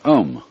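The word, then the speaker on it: aum: course the sound ohm that sound is used because if you spell it out a u-m it runs from the back of your throat to your lips and therefore it contains the whole range of the voice and for that reason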